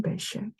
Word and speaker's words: Bechet: great jazz musician Sidney Bechet. 요거를 bechet이라고 읽는 사람인데 사실은 bechet. 쉐라고 할까나? 이게 뉴올리언스 출신의 그러니까 이제 프랑스 발음으로 얘기합니다.